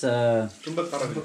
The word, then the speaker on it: Thumba Karawila: Is how you pronounce yeah. them. What was the name for them? That was, Tumbakarawilla.